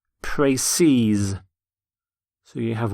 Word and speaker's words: précis: The plural of précis is in fact spelt exactly the same, but it's pronounced précise.